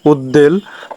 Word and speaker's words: উদ্বেল: বিশ্বাস অনুসংসার ইত্যাদি তিন নাম্বার সন্ধির ফলে ত যদি দয় হয়ে যায় তার সঙ্গে ব ফলা হলে ব ফলার উচ্চারণ হয় যেমন উদ্বেল তারপরে উদ্দীর্ণ ইত্যাদি চার